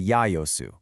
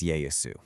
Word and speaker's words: Yaesu: the time, they kind of adapted it to Yayosu. And as the centuries rolled by, that pronunciation organically shifted to what we now know as Yayasu.